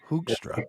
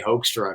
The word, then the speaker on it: Hoekstra: is supposed to be, if you do the Dutch pronunciation, have like a hoek. Hoekstra. Like a hook, but nobody would ever get that out of Hoek. So I just say Hoekstra because I have mercy on, on us.